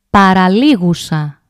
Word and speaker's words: παραλίγουσα: The second from the end is called παραλίγουσα. Παραλίγουσα. Penultimate. The third syllable from the end is called προπαραλίγουσα.